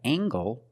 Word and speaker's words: angle: We have angle, spelled L-E, making the nasal sound and the hard G.